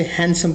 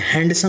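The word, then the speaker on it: handsome: इस्तेमाल कर सकते हैं याद रखिएगा उसे हैंडसम पढ़ा जाता है हैंडसम नहीं पढ़ा जाता ड pronounce D इट्स हैंडसम look at the next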